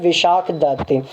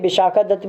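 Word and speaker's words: विशाखदत्त: मुद्रा राक्षस बुक किसके द्वारा लिखी गई थी, इट was written by विशाख दत्त। जो विशाख दत्त थे, विशाखा दत्त भी बोला जाता है या विशाख दत्त प्रोनाउंस किया जाता है कई बार, तो विशाख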